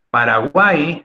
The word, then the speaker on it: Paraguay: ella no lleva tilde paraguay aunque te sorprenda mi estimado alumno es aguda porque la sílaba más fuertes guay pero no tiene que